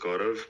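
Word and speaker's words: Gaurav: call me G like my name is pronounced gorov but I have a typical Indian name so it's tough to pronounce so you can call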